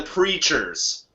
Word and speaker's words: Preatures: the band's names because it's not as it sound it's it's like it's spelled like uh creatures but with a p in Fr so creatures